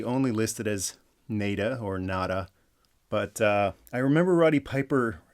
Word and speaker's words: Nada: I've always pronounced that NECA because I'm actually a bigger fan of names with double meaning instead of one meaning.